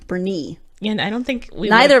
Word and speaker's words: Boerne: isn't this commonly mispronounced born by out-of-towners the correct way to say this name is Bernie emphasis on the knee Bernie and I don't think